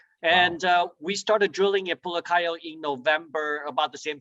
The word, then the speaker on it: Pulacayo: Is it Pulacayo? Is that how you say it? Yes. And yeah, Stephen, Pulacayo it is the second largest silver mine based on historical production.